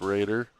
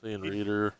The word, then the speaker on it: Rader: And I guess I've been saying Lawrence's last name wrong. It's Rader. Yeah, he Reader all did day.